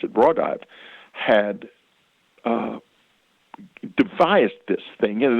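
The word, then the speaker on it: Raudive: And in case, he was explaining that this man called Konstantin Rodovay, he pronounced it Rodovay, had devised this thing, and it was a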